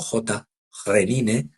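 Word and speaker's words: Khrenin: Entiendo que se pronuncia como J. Renine estrechando la mano al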